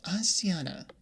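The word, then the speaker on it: Azxina: pronounce her name uh my name is aana AZ x i n a and if you call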